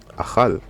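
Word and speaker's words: אכל: Nous avons la lettre Kaf, mais vu qu'on n'a pas de dagesh, donc c'est la lettre Khaf, et nous avons le Lamed. Donc ça se lit Achal, qui veut dire manger, consommer, dévorer.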